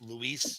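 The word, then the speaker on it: Luis: this is a beautiful cover from believe that's pronounced Louise holy you actually said it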